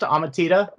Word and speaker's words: Amatida: so i'm here with now is your name pronounced ahmatita oh yeah that's um okay i want to